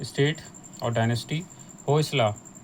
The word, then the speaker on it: Hoysala: हैं स्टेट और डायनेस्टी होसला यह द प्रोनाउंसिएशन में ध्यान दीजिएगा डोंट कनेक्ट द डॉट्स लेकिन एक आपकी बुक